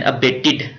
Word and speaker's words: abate: अच्छा, अबेट यानी ये एक है देन अबेटेड, ABATE, इसके स्पेलिंग ही ABAT, अबेट, इसको ऐसे पढ़ना है अबेट।